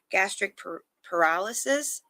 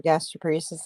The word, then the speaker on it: gastroparesis: I feel like every time a person finds out they have gastroparesis and they say it wrong the first time, we get our gastroparesis wings.